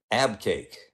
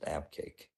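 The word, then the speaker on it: Abqaiq: did cool all right abake I don't know how you know that that's how you're supposed to pronounce it but I'm told that's how you pronounce it abake um this wasn't too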